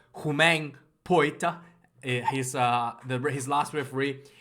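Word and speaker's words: Poite: this game was also roman poet i think it's pronounced humane poet he's uh his last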